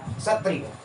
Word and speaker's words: क्षत्रिय: पहले देखो स से क्षत्रिय, क्या है क्षत्रिय, इसमें क का साउंड साइलेंट रहता है हल्का सा ना, क्षत्रिय बोलते हैं।